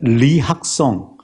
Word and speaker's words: 리학성: 탈북한 그 최고의 세계적인 수학자인 리학성, 북한 사람들은 이라고 안 읽고 리라고 읽지 않습니까?